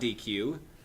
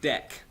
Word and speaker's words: deque: No, it's not DQ. It's DEC.